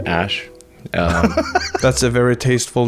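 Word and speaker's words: Æ: X um and then the AE is like pronounced Ash um that's a very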